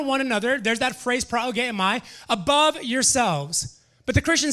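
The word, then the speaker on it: προηγέομαι: looking and maybe a little bit difficult to pronounce, so bear with me, but it's progeomai.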